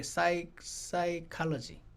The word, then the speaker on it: psychology: 푸시케라는 단어에서 소울이라는 단어가 나오니까 이제 그 어원에서 나온 단어 중에 여러분과 제가 아는 게 psychology, 푸시케라는 PSC 푸가 묵음이에요.